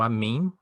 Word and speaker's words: אָמֵן: todo poderoso E aí cria a palavra a mim pronunciado a mim mas é a palavra